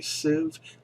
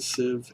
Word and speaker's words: sieve: important to create a sieve sieve to get civ believe it a sieve it is not spelled like you would pronounce it but i believe it's